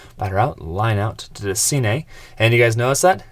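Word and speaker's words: DeCinces: your guys' comments, so hopefully Doug DeCine is the right way to say it.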